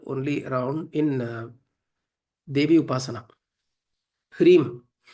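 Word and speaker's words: ह्रीं: Hrim. The syllable Hrim is a composite sound. It's a composite sound created by Ha, Ra, Im.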